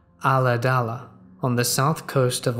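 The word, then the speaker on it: Ulladulla: We lived in a small rural town pronounced Aladala on the south coast of Australia.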